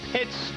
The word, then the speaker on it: Pitts: And you know, Pitts rhymes with mits.